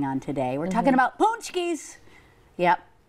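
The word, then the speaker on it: pączki: today we're talking about punchies Yep they're spelled not like that but they're pronounced like that it's all going to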